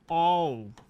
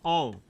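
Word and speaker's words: of: अब एक और यहां ध्यान दीजिए, बीच में शब्द आया है ऑफ, मैं स्पष्ट कर दूं, यहां देखिए, इसको पढ़ेंगे ओव, इसका उच्चारण होगा ओव, और यदि ऐसे है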